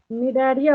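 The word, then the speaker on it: Cnidaria: Second position पे आपको देखिए निडारिया होगा लिखा हुआ, यहाँ पे सी साइलेंट होता है, ठीक है।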